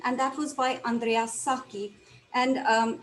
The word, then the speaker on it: Sacchi: you would write saki so don't get confused by seeing that h it's just pronounced saki so pietro da cortona